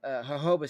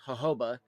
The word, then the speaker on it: jojoba: that's coming in in here is the uh Hoba seed oil. Uh which most people I don't know if you ever pronounce it Jojoba because I've seen some people